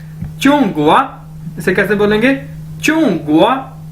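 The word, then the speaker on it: 中国: ठीक है, चूंग गोवा, इसे कैसे बोलेंगे, चूंग गोवा, चूंग गोवा, चूंग गोवा, चूंग गोवा, चूंग गोवा यानी चाइना।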